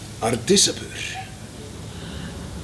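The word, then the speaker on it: Ardishapur: Ardisapur.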